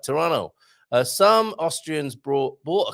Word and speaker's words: Toronto: in toronto um some i think that's how you meant to say it there's a silent t at the end there right toronto uh some austrians brought